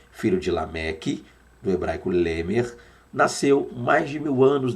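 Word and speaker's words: לֶמֶךְ: na sua tela aí que seria Lemer devagar para que você possa pronunciar junto comigo Lemer Lemer Tem sim aquele gutural Zinho lá no final tá então Noé filho de lamec do hebraico Lemer Nasceu mais de 1000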